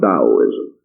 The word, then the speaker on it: Taoism: which we know as Taoism, pronounced as though it was spelled with a D, but actually spelled with a T. So it is spelled Taoism and pronounced Taoism.